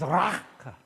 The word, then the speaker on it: raka: Now, the pronunciation in the Greek, I think that's actually Aramaic, is raka. What do you do just before you spit?